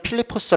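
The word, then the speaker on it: Φίλιπποι: 퍼스 라고 발음합니다 그런데 우리만 이제 그 한자 발음으로 그냥 하는 거죠 그래서 실제 는 필리포스 라고 하는 어 지역 이구요 지금도 있습니다 지금도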